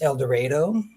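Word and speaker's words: El Dorado: I now live in El Dredo. Here in Kansas, we don't pronounce things the way everybody else does. It's El Dredo.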